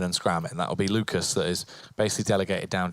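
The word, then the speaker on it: LUCAS1: kind of interesting how for henny you say hen e you pronounce the one with lucas you don't you just ignore the one it's kind of not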